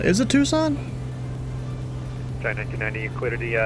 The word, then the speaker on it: Tucson: Tucson? Is it Tucson? Giant 1990, you cleared the, Guess that makes sense. Kilo Lima Charlie Kilo Yes. Airport via last. The C is silent.